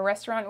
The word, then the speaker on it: restaurant: test okay restaurant a restaurant how do you say that in french the au does make a no sound it's a little bit less emphasized in this word okay it sounds like